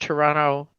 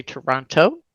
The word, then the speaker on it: Toronto: Canadian and I appreciate the fact that you pronounced Toronto the way you did not say Toronto you said toron just like everybody else does